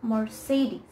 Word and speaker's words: Mercedes: cds so i was quite disappointed but it's mercedes more cities so the next brand is this